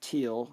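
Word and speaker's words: Thiele: You know, it looks like it would be pronounced Thiel, but I guess it's actually pronounced teal after the guy's name who developed the speaker parameters many years ago.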